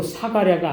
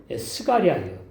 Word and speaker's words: 스가랴: 그리고 사가랴가 아니에요. 스가랴예요. 이게 발음상에 이제 오해가 있는 거예요.